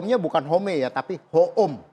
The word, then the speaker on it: Hoom: Tapi kalau kita bikin dokter ho e eh e home yang bahasa Inggris, orang bacanya dokter home. Nah, jadi enggak nyambung kan. Nah, gimana supaya orang kita bacanya dokter home. Nah, ya ini home gitu.